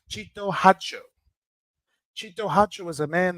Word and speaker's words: Harjo: this man Chito hacho it's not pronounced harjo the correct pronunciation is hatcho Chito hacho Chito hacho is a